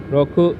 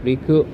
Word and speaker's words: 六: number six okay so onomi readings is uh Roku Riku and then these are the onomi readings written